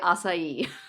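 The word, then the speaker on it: açaí: okay interesting what's been hot I'm gonna say asai wow good good pronunciation I mean asai BS don't really exist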